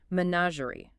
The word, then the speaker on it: menagerie: Menagerie. Menagerie. Menagerie. Pronunciation-wise, internationally, it's Manazandic. And here in the U.S., we'd probably say menagerie.